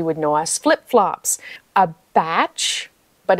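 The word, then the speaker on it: bach: know as flip-flops a batch but it's spelled b-a-c-h but it's pronounced batch this was completely new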